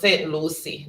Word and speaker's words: Saint Lucia: if your neighbors yeah it's pronounced say Lucy not we say Lucia but people of Saint Lucie all right